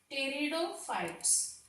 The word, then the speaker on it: pteridophytes: Now our next category of the plant in the cryptogams, that is pteridophytes. Pteridophytes. Okay, this P is silent here, so we are pronouncing from pteridophytes.